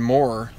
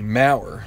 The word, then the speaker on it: Maurer: have to go with Brandon more excuse me Maurer that's how you say his name Brandon Maurer is their